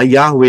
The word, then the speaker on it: Yahweh: lihat Panggil itu jelas y he W he nulisnya dan e eh pelafalannya adalah yahwe itu namanya memanggil serukan